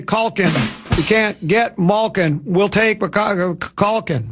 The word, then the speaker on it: Malkin: How do you pronounce his last name again? Malkin. Malkin.